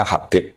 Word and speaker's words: Habib: Itu di harakatnya kitab itu ada yang nulis khubb. Tapi yang benar Oh, nggih. Yang benar itu bacanya Habib.